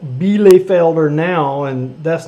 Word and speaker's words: Bielefelder: Pronounced Bielefelder.